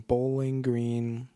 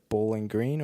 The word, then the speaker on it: Bowling Green: Is it Bowling Green or is it Bowling Green? These are the types of things I think about. I think conventional wisdom has you pronounce it Bowling Green, emphasis on the green, but the more I